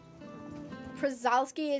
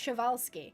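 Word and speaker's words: Przewalski: So they're actually pronounced Shawalski, which actually makes a lot more sense. I think they're Polish. Like, I think the name is Polish.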